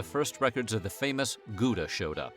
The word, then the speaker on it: Gouda: And it would be somewhere around 1184 when the first records of the famous Gouda showed up or pronounced how if we're trying to be Dutch about it.